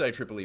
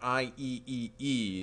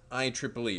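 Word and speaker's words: IEEE: friends at at I Triple E and it's pronounced I Triple E by the way that's something may you might not have known when you see it it's not IEE II it's I Triple E very important you got to sound like you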